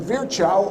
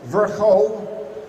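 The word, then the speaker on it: Virchow: the first place when virgil or if you prefer the proper pronunciation virgo in 1862 codified studied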